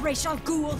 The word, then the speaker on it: Ra's al Ghul: You're not worthy to speak of the great Ra's al Ghul! I like that they actually pronounce his name right.